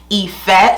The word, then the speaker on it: Ife: I'm super duper excited to chat about the Ife collection. Yes, it is pronounced Ife. Super simple, 3 letters. It's Yoruba for love. Yes! Let's do a little rundown about each piece from the Ife collection.